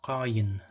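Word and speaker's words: קַיִן: So for that reason, this example in Tiberian would be pronounced qayin.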